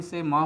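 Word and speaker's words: psalm: बात यह है कि साम के बीच में एल साइलेंट लेटर आता है। और इसके बाद एक बात और ध्यान देने वाली है कि इसमें साइलेंट लेटर पी शुरू में ही आ जाता है।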